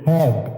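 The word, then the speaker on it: head: এ লেটারটি silent থাকবে এইচ ই এ ডি হেড মানে মাথা এখানে ই এর পরে এ লেটারটি সালে থাকবে লজিকলি এল ও জি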